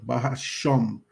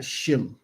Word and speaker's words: bahasham: bahasham hamashiach yahawashi okay bahasham not shim if he's saying shim he's saying in the name of our ancestor which that name which